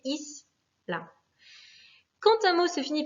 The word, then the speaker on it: isla: Le mot isla, pareil, finit par une voyelle, un A, donc c'est la première syllabe qui va être accentuée, isla.